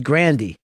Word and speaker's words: Grande: that the other day or last name is grandi everybody's been no she said